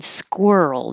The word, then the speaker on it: squirrel: to make the Earl it's the same sound as girl and world so if you want to practice the Earl sound say girl and then squirrel it might help your tongue remember that position anesthesiologist it is weird